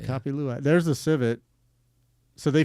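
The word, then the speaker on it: kopi luwak: Co copy luak. Yeah, I said it right. Copy luac.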